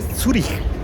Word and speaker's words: Zürich: Tenían una aduana que se llamaba Turrikun, y en el dialecto suizo se dice Zürich. En alemán se dice Zürich porque la C y H suenan como J.